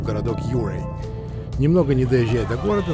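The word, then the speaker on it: Ouray: Интересно, что многие носители английского языка встают в тупик, пытаясь правильно произнести название этого города. Тут и Оуре, и Анурей, и другие производные. Но если верить старожилам этих мест, то правильное произношение – это именно Юрей.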